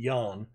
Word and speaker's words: Jan: And Jan Gomez, I know it says, looks like Ian, but there's a Jan Poveda who is South American playing for Leeds, and he pronounces it Jan.